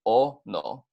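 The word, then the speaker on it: ʻono: or it's so delicious Ono is pronounced just as it's displayed here just remember that the Okemah at the beginning is gonna indicate a break in speech before you say the full word so it's gonna be all no put it together you're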